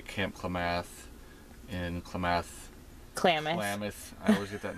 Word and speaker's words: Klamath: Klamath. I always get that name wrong.